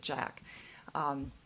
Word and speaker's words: Jacques: It sounds like Jacques, but I was told that he pronounces it Jack.